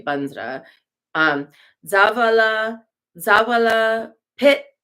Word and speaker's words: vajra: got quite a mantra om or vajra but when we're doing Tibetan pronunciation we usually say banra um Zavala Zavala pit